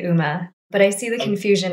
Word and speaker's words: UMA: people pronounce it differently what is the canonical pronunciation internally we say uma but i see the confusion it stands for